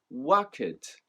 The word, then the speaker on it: worked: the word worked as worked. I'm sure you've probably done this yourself in the past as well. But the past tense of work, worked, actually only has one syllable.